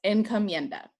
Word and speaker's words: encomienda: labor norn known as encomienda en comienda is spelled e-n-c-o m-i-e-n-d-a and encomienda is a